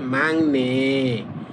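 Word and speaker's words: 막내: তখন গিউকের উচ্চারণটা পড়বেন ইয়ং। এটা হচ্ছে মাক। আবার হচ্ছে নে। কিন্তু যখন একসাথে পড়বেন তখন হবে মাংনে।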